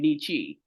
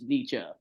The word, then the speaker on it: Nietzsche: in the comic reading I pronounce his name Nietzsche even though it's Nietzsche so apologies for that